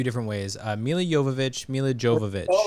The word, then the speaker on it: Jovovich: Oh, I like that's probably it's probably Yovich. Yeah. Silent J. A silent A. Thank you, Jen. Oh my god. It's not a silent J. It's just pronounced with a Y.